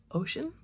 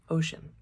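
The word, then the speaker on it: Oisin: His son was named Ocean. Ocean. Ocean. Ocean. It's spelled O I S I N, but the name translates as little Fawn.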